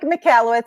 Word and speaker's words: Michalowicz: thanks for the introduction all right so Mike McCalla wits and I was going to tell you how it's pronounced it's pronounced McHale it's you know they